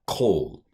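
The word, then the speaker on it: כֹּל: This is the word for all, kol. That's a hardening qamats, hardening dagesh, because it's in the beginning of a word. This is a long vowel, a kol.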